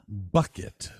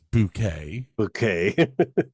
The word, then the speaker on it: Bucket: Hyacinth Bucket, whose name she insists is pronounced Bouquet, continually looks for opportunities to climb the social ladder.